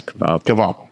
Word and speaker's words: Kvapil: I think the Daytona winner of 2026 is going to be Carson Kvapil. Is that how you say it? Kvapil. Yes, Kvapil.